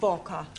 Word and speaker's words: Walker: Walker is keeping me busy. Anna do this, Anna do that. She is a slave driver, that Mrs. Walker. Walker. What? W is pronounced W. Your employer's name is Walker.